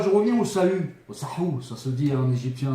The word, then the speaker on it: Sahu: Ça s'écrit Sahu, S-A-H-U ou S-A-H-O-U. Sahou, c'est la barque céleste chez les Égyptiens anciens.